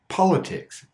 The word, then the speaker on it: politics: There are, of course, some words that should have the flap T, but don't. Words like military, politics, detail, iTunes. Each of these words have a stressed syllable before the T, but we don't unstress the T.